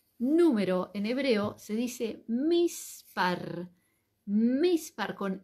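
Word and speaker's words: מספר: Cómo se dice número en hebreo se dice mispar mispar Con m de mamá m i s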